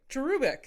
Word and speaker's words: cherubic: God I practiced that I've always said cherubic and people are like that's not how you say it yeah but you're saying it's a cherub it's cherubic I I get the Cherub